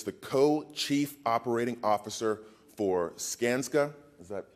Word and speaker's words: Skanska: hatch Joey is the co-chief operating officer for scansa is that pronounced right skanska all right I was studying that all morning